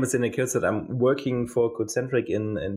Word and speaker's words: Daniel Kocot: So my name is Daniel Kocot.